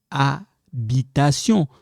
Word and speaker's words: habitation: David décembre farine garçon habitation so this one silent I don't need to pronounce H that H French h ok more time banane